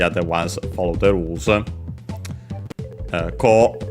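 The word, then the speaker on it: こう: We also would have ko, so, and a. A is an exception, so be careful, but the other ones follow the rules. Ko, this way, should be unaccented, I think.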